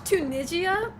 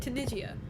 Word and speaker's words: Tunisia: Assuming Japan like watch Tunigia. Am I even pronouncing that country right? Tunisia.